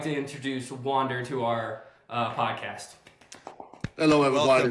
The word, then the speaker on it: Wander: It's Wander because It's a German name, so it says W as a V, so Wonder.